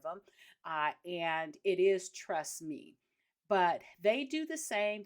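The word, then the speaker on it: Trustmi: for this one now the next one is trust me and it's spelled t r s TMI and I talked about them on episode 279 although I kept calling them trust my but I had a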